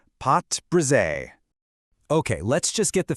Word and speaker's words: pâte brisée: It is called pot bre. Okay, let's just get the fancy French out of the way. It's pronounced pot bri, and the name itself literally means broken dough.